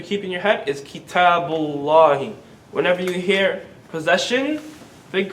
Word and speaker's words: كتاب الله: Kitabullahi. كتاب الله. Kitabullahi.